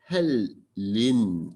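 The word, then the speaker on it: Hellene: 그래서 아까 말한 대로 이제 영어에서는 헬린 이제 스펠은 이 그리스어를 그대로 가져와서 스펠은 썼지만은 발음은 헬린 그럽니다.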